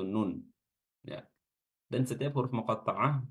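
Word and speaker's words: ن: baru belajar baca Quran bisa jadi dia akan membacanya dengan na ya padahal di sini yang dibaca adalah hurufnya ya nama hurufnya ya bukan cara baca hurufnya ketika fathah dah atau kasrah karena di sini dia tidak memiliki tanda baca jadi yang dibaca adalah namanya yaitu Nun ya dan setiap huruf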